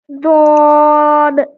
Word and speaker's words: ضاد: কি তারা বিলকুল নেহি, অর্থাৎ দদের উচ্চারণ দালের মতো একদমই না, ঠিক আছে। হ্যাঁ তো আমরা জ এবং দাল এর মাঝে একটা অক্ষর উচ্চারণ করব, ঠিক আছে। আচ্ছা। ضاد দদ ضاد দদ বদ রবে বলেন ضاد বদ।